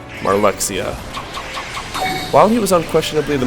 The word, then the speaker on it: Marluxia: of all now I am aware that some pronounce his name as maruia like he's some sort of Transylvanian torturer but I played Kingdom Hearts chain of Memories on the Game Boy Advance which was a text based game meaning that I pronounced his name as it was spelled marluxia while he was unquestionably